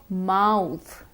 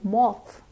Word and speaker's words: mouth: the British currency similarly instead of mouth take care not to say moth moth is an insect mouth is the part